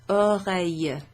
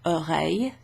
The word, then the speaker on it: oreille: It's like a y sound rather than a double L. That's ears. And it's plural. And une oreille is an ear. That's feminine. So it's une oreille.